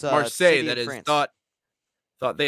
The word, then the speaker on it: Marseille: Is that how you pronounce Marseille. that? It's, Marseille, that is.